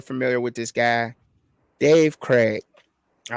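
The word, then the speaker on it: Krieg: with this guy Dave Craig all right and the Craig is spelled k r i e g okay most touchdowns in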